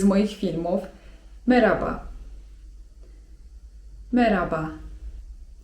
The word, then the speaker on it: merhaba: merhaba (czyt. meraba) Tutaj wiem, że często macie problem z tym 'h', które jest widoczne w słowie 'merhaba'. Czy czytać to 'h' czy nie czytać tego 'h'?